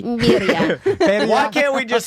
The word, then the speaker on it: birria: you have to say burry. Birria. Why can't we just say burry tacos? Why do we have to? I mean, you I pronounce can. it Beria.